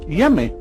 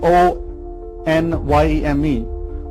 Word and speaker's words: Onyeme: These Ashanti people, they identify their Almighty Creator as someone called Yeme, or they have the word spelled is N-N-Y-E-M-E, O-N-Y-E-M-E, Onyeme, but they don't pronounce the O and the N.